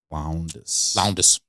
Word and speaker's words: Lowndes: Lowndes.